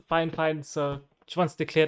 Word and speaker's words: Fifine: get any comments saying it's pronounced fine or fire fine no it's not because i've spoken directly to the creators it's pronounced the fine fine so she wants to